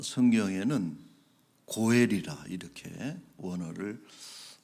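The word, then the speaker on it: גֹּאֵל: 그래서 이러한 기업 물리는 자를 물르는 자를 일러서 어 성경에는 고엘이라 이렇게 원어를 어 사용하고 있습니다.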